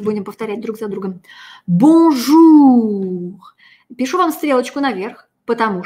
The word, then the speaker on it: bonjour: Это не «р», это «х». Бонжур.